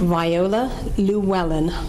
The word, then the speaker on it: Viola Llewellyn: The pronunciation, Viola Llewellyn? Viola Llewellyn.